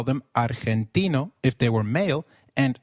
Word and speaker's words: argentino: Did you notice that Argentino is pronounced as Argentino? In Spanish, G, when followed by E or I, is pronounced like a throaty H. So try saying Argentino again. Argentino.